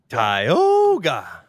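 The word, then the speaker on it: Tioga: van in the driveway is that how you say it tyoga yep s like crypto Zoo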